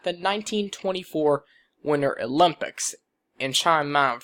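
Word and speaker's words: Chamonix: 1924 winter olympics in chime mount france i think that's how you say it chomp monix france so like that but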